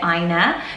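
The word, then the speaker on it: Áine: Ornia, we talked about Ornia before, and I pronounced it Aina because I know a Norwegian girl with this name, he says Aina, but in Irish you would say Ornia.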